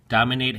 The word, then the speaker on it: dominate: Dominate has 3 syllables, dom-min-nate. And the emphasis or stress is on the first syllable, dom.